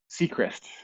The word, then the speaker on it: Sechrist: The anglicized version that I go by is Sechrist. Seacrest, Sechrist. like Yeah, Ryan Seacrest. like Ryan Sechrist.